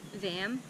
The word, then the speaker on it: vam: And the Sanskrit mantra for this one is VAM, V-A-M, VAM, I guess, but it's pronounced VAM.